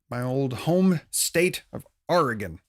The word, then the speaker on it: Oregon: old home state of oregon oregon don't pronounce it like that it's oregon or or like the thing you row boats with okay not like pirate r oregon uh a bunch